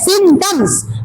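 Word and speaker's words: symptoms: टी ओ एम एस सिम्टम्स P silent है ठीक है उधर दोनों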